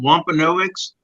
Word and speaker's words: Wampanoag: was the one put wampano eggs is that the correct pronunciation Tom wampanoags I think I'm actually